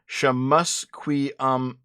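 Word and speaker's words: šxʷməθkʷəy̓əmasəm: He has lived on the now formerly named Trutch Street for 40 years, which now bears whatever the fuck this name is, pronounced Shamusquiasum. Shamusquiasum? Shamusquiasum.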